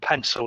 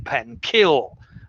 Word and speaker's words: pencil: spelt we'd be saying pen kill and we certainly don't say it can i borrow your pen kill okay so you'll notice that the c has changed to an s sound the c hasn't actually